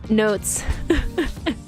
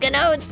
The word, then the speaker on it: notes: There are notes. They're notes, not gnotes.